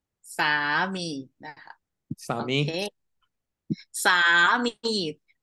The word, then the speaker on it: สามี: นะ คะ สามี โอเค สามี both syllable Like Drag the word เนา Like long vow สามี นะ คะ สามี